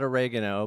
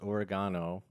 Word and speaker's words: Oregano: Oregano, but it's pronounced Oregano, on Facebook, Instagram, and Twitter.